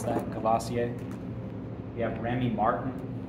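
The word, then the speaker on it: Courvoisier: have uh cavasier main one that's how you pronounce that cavasier we have Remy Martin it's another one okay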